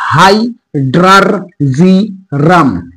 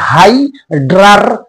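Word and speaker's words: hydrargyrum: মার্কারির Latin নাম হচ্ছে high ড্রার জিরাম মার্কারির Latin নামটা একটু উচ্চারণে একটু অনেকের সমস্যা হয় এবং এটা পলিসিলেবল ইংরেজিতে পলিসিলেবল বলে পলিসিলেবল উচ্চারণ করতে হয় যে হাইড্রারজিরাম তোমরা এভাবে বলবে যে হাইড্রারজিরাম এটা হচ্ছে মার্কারির ল্যাটিন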